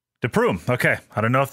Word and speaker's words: de Prume: Today, we have, I'm going to probably pronounce this wrong, Ivan De Prume? De Prume. De Prume.